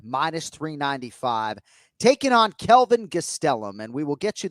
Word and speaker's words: Gastelum: But as you will hear here, he does say, Kenny, with that, Spanish pronunciation, Kelvin Gastelum. Gastelum, Kelvin Gastelum.